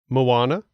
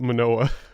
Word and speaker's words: Moana: Moana, Coco. Wait, I'm so proud of you. Frozen. I almost called it Manoa. You just said it right.